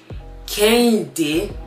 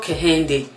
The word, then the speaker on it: Kehinde: So my Nigerian name is actually Kehinde. Okay? Not Kehinde. It's not Kehinde. It's Kehinde. If you have African accent, you know what I'm talking about. Kehinde.